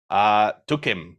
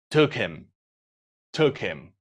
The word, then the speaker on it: took him: Took him. We take out the letter H. You don't pronounce it in this case.